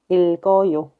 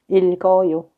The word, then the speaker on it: 읽어요: But from here, after the below consonant, when next characters start with iung, then we have to bring over the second below consonant. We can pronounce 읽어요. 읽어요.